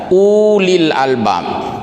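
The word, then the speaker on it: أولي الألباب: Li Ulil Albab disana tertulis dalam rasa most money ada Wow uh wuli tapi Wow itu tidak berfungsi secara bacaan hanya secara kita bahas secara tulisan saja Ulil Albab jadi tidak dibaca panjang = Ula Ika uh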